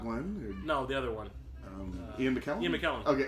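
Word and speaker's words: Iain: Like Ian or Ian. Yeah, in the documentary they're calling him Ian.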